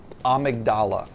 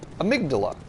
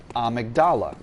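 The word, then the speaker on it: Amygdala: game there is uh a boss slash character named amigdala now it is spelled very is spelled exactly the same as the word amydala so a lot of car a lot of uh YouTubers and such call that character amydala and that would be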